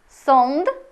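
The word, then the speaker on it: sąd: або ом залежно від наступної приголосної зомб зуб сонд суд о зомб сонт в кінці слів вона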